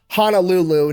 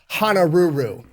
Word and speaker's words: Honolulu: So Guy yells out, "Honolulu," knowing that a Japanese person trying to copy English would pronounce it honoru.